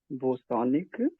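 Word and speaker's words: bosonic: पहले इसको बोजान बोलेंगे, लेकिन आप हम एस बोलने में हमको कोई दिक्कत नहीं, तो हमारा जो प्रोनाउंसिएशन है उनका बोस नाम था, सत्येंद्रनाथ बोस, तो इसलिए हम लोग इसको बोसानिक बोलेंगे, हम लोग बोजानिक ना बोले तो हमारे लिए अच्छा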